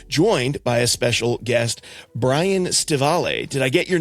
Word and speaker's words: Brian Stivale: And I am joined by a special guest, Brian Staval. Did I get your name right, Brian? Did I pronounce it okay?